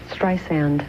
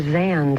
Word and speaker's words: Streisand: Please, Streisand. I'm sorry. Streisand. So many people do that, and I always wonder, am I really famous? How could they say Streisand or Or Zand, they call me a lot.